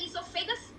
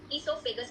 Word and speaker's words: esophagus: What goes along with the esophagus? Esophagus is rhyming with vagus.